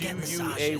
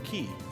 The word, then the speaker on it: quay: Not just that, it's more like, well, we're heading right now to the Golden Key. It's pronounced key. You know, for the longest time, I thought it was pronounced quay.